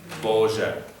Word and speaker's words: Boże: Is B-O-Z-H-E, the second syllable of that, is that a schwa or an A? E-H, same je, boże, yeah. But the accented syllable in that word is bo.